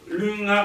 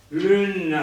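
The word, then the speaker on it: Lunn-a: che non riusciva a pronunciare la N sospesa e nasale. Lun, ah. Perché? Ma perché lei non era genovese, era di estrazione mantovana e addiva sempre Girbanna, Lunna, Fortuna.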